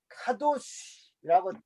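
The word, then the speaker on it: קדוש: 그래서 여러분 거룩이란 단어를 들으면 카도시라고 발음이 떠오르게 하셔야 되고 그리고 구별됨이라고 이 단어가 떠오르셔야 돼요.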